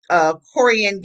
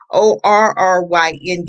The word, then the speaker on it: Korryn: That's Jonathan Farrell and Corian Gaines. Did I say pronounce it? It's Korryn Gaines.